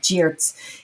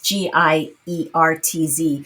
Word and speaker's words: Giertz: It's like Geertz. It's Giertz. And every day she made it so that she would remind herself to meditate every day.